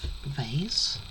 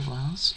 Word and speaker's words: vase: We have vase or vase, depending on how you say it, and another little flower pot.